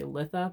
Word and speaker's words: Litha: I think I'm mispronouncing it. Most people say Litha, but for some reason I just like saying Letha, so I'm just going to do it.